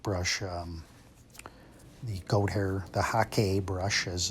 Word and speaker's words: hake: You can easily use the hake brush, the goat hair, the hake brush, as it's correctly pronounced.